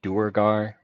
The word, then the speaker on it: duergar: at large volume one you can also pronounce that duergar but i prefer to wear a guard because you can make fun rhymes like where are the dwergar that's a good question